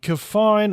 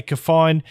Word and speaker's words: KEFINE: I'm going to say KEFINE because it's spelled the same way as refine without the R.